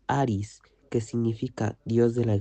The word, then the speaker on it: Ares: Su nombre en griego se pronuncia Aris, que significa dios de la guerra.